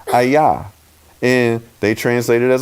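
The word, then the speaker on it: אַיָּה: 44 that's H 3 4 4 and it's pronounced hi-yah and they translate it as a hawk a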